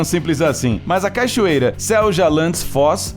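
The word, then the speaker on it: Seljalandsfoss: não é tão simples assim mas a cachoeira selja landis foz é considerada uma das mais incomuns do mundo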